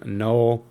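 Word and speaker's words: Knull: pronounce him - no I just think that the K is silent and I pronounce him no but what's special about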